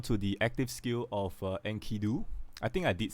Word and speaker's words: Enkidu: And then I think I pronounced it wrongly at the start of the video, right? Enkidu.